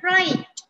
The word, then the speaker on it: write: එතකොට W is the silent letter. Next one, write.